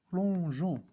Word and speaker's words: plongeons: Donc, on va laisser la consonne E pour prononcer Jean.